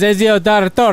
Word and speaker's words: Ezio: The one that you couldn't pronounce right there. Ezio. It says Ezio is a That's how you say you weirdo.